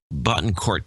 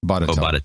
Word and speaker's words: Botetourt: We've got the only Indian Polacks in Bottencourt County, Virginia. Botetourt. Botetourt. Yeah, Botetourt. Which is actually Botetourt.